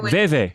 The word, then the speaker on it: Vivi: In French, we say V is V. Oh, Veve. So Veve. It's like VV, but in French it's Veve because she has a V pattern on her forehead.